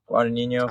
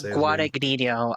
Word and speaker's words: Guadagnino: Guadagnino? Luca Guadagnino. That's the best I can do. I don't know if there's like a silent G in there, if it's like a lasagna type of Italian name, but it's like Luca Fettuccine Alfredo.